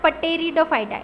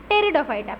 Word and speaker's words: Pteridophyta: Now moving to the next, Pteridophyta, not Pteridophyta, it's Pteridophyta. P is silent.